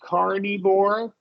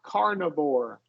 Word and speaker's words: carnivore: The only one I would change, and thankfully it's not a common word, right here you said carnivore, so you substituted a long I here. Try it with the schwa, carnivore.